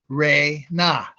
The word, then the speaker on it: Ren: to an atom now buds pronounces the word of the Divine name as Ren r-e-n or r-e-n-n but we know that